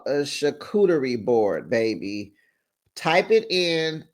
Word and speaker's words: charcuterie: Sophia, Shantae, So Gucci, it's called a charcuterie board, baby.